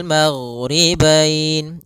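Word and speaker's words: الْمَغْرِبَيْنِ: Kemudian di sini huruf ghain, hati-hati dalam pelafalannya, jangan sampai memantul, jangan maghribain wa rabbul maghribain sampai dia memantul. Nah, karena huruf ghain tidak ada sifat qalqalah, tidak ada sifat pantulan.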